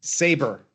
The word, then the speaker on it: Sabre: Is it Sabre Limited? Saber. Saber. Saber. Yeah. We we spell it we spell it the funny way the British spell it, but yeah.